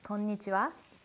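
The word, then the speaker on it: こんにちは: Hello is konnichiwa. Ah, that's an easy one. Konnichiwa. No, you put too much emphasis on nichiwa though. It's konnichiwa.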